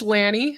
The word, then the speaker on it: Lanni: say it it's okay it is Lanny yep Lanny and Greener postures you